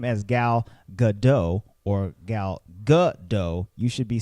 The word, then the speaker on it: Gadot: saying her name as gal gadot or gal gadot you should be saying gal gadot this is